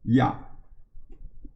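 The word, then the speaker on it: 亚: They use that to translate the English pronunciation A, because this pronounces ya.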